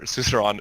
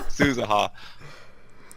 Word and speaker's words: Suzuha: been wondering about with Suzuru, or Suzuran, is, hey, or Suzu, Suza, whatever. huh? Suza, yeah, I said it right the first time. There's so many, they say their names like 14 different ways, okay?